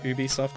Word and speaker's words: Ubisoft: Do you know Ubisoft is short for ubiquitous software? So you have to pronounce it the same way you do ubiquitous.